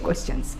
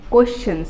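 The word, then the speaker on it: questions: ঠিক আছে, আজকের টপিকটা হচ্ছে গিয়ে WH কোয়েশ্চেন্স। WH কোয়েশ্চেন্স, okay, কোয়েশ্চেন্স নট কোয়েশ্চেন। ওকে, এরকম মানে আমি শুনি অনেকে এরকম উদ্ভট করা মানে উচ্চারণ করে কোয়েশ্চেন টাইপের, এরকম না, প্রনাউন্সিয়েশনটা হবে কোয়েশ্চেন।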